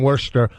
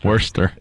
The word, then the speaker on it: Worcester: back in Worcester where we did the tour 2 years ago.